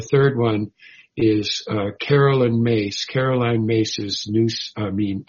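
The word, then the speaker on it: Myss: And the third one is uh Carolyn Mace. Caroline Mace's new I mean uh spiritual madness. Caroline Mace. Her last name is spelled MSS and her first name is like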